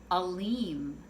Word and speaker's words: Aleem: hearing her say, and I keep mispronouncing her name. So in the dream, I'm saying it all different ways, and every time I say it, she said, no, that's not exactly right, and then she'll repeat it until I finally get the proper pronunciation of her name. And so I say over and over right before I wake up, oh, your name is Aleem.